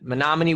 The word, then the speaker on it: Menomonie: even know if i can say it correctly menomonie nominated romney grace got it drake's got it menominee wisconsin to iowa city iowa um so i